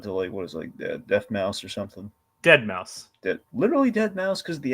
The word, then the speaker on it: deadmau5: Dead Mouse. Literally Dead Mouse, because the X's in the eyes. That's literally. All right. Well, point me in Dead Mouse.